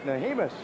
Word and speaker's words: Nahimus: name is nahimus okay i had to have him pronounce it for me prior to the start of this right so what in the world is this he said it's nahimus i said well of